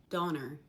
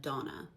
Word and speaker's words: Donna: Donner instead of Donna.